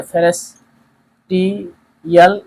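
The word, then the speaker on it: Pfannenstiel: P silent है, फेनेस्टियल incision.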